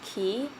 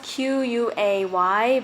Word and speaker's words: Quay: be walking to Clarks key it's spelled qu a Y but I realized that it's not Quay its key so that's something I learned I would say this